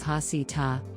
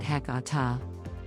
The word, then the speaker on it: Heceta: register of historic places hesita is pronounced by Moses hasita others pronounce it Hakata the grain lady unlike